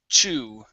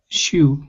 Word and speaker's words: chew: here um right here instead of shoo okay it's chew chew shoe okay try to there you go okay just remember with the ch sound it feels very similar to the sh but you push on the air and then you stop it so it's it's a it's a push sound and then but you stop the sound okay so instead of